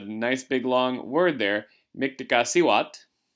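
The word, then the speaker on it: Mictecacihuatl: big long word there miktaka siwat is her name and there's a somewhat accurate pronunciation of that miktec siwat she was the goddess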